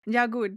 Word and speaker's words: Jagut: Jagut. That's my way of pronunciation.